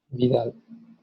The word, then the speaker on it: Widal: Bueno, la serología de reacción de Widal, no sé cómo se pronuncia bien. Vidal. ¿Vidal? Bueno, Sí, Vidal.